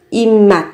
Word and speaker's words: 입맛: 입맛 các bạn cần chú ý về cách phát âm. Đó là biến âm.